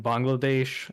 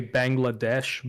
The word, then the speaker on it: Bangladesh: in Bangladesh um uh a lot of people say Bangladesh but that's sort of the American pronunciation I say the Bengali pronunciation which is Bangladesh Bangladesh yeah you got it it's not difficult um but in in